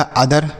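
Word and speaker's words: other: उसके बाद ओ टी एच ई आर, तो ओ से बनेंगे आ और टी एच ई आर को दर, यह लिखा अदर।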